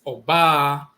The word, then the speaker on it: Oba: The term for a woman, you'll see the mark here, is Oba, and it's a high tone and a low tone following.